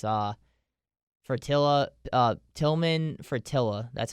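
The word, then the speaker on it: Tilman Fertitta: to say his name it's uh fratilla uh tillman fratilla that's how you say it um but he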